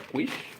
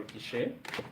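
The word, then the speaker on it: quiche: Actually, this recipe is going to look more like a quish or kish, depending on how you pronounce it.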